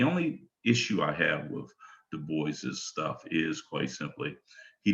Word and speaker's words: Du Bois: that i'm referring to is william edward berghard du bois and i honor his spirit and all the